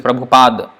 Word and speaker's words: Prabhupada: is almost the last PA das like his pronounce like this Prabhupada with the a not knows it's not wrong